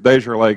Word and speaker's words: DesJarlais: you pronounce your name because desjarlai gets butchered all the time and i don't want to start off saying yours wrong rhymes with stereo barrio barrio thank you okay we